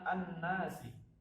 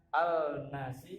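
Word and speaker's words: النَّاس: Cara membacanya adalah an-nasi. Nah, di sini tidak ada huruf lamnya. Beda dengan ini sama ini. An-nasi. Jadi tidak membaca al-nasi atau al-takatsur, tapi langsung at-takatsur dan an-nasi.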